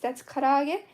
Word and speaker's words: karaage: Yeah, the fried chicken nuggets, that's karaage. So you would spell that as Karaage. Kara-age. And that's karaage, kinda.